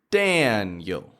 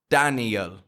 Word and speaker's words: Daniel: To you it does, Daniel. To you it might sound the exact same. But to Daniel, he's listening for the strength to be in Dan. Dan. So put the strength in Dan.